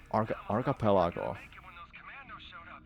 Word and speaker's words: archipelago: Archipelago. Archipelago. Archipelago. Archipelago. So you say archipel, then you say ako. Am I right?